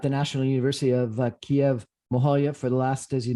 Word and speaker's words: Mohyla: management specialist from the National University of Kiev Mohyla Academy in Kiev, Ukraine. I'm pronouncing the name of the academy wrong, probably.